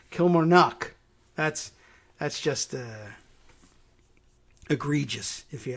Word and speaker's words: Kilmarnock: The emphasis is actually on 2 syllables in here instead of Kilmarnock, which is where I would put it in the middle if I were in Ireland looking at Kilmarnock. It's Kilmarnock. There's 2 emphasis on the first and last syllables.